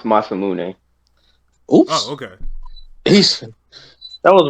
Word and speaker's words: Masamune: Yo, it's pronounced Masamune.